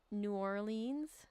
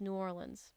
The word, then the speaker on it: New Orleans: So when I was little I pronounced it New Orleans but then I got corrected by a native and it's like no it's New Orleans and I was like okay New Orleans and then Oregon.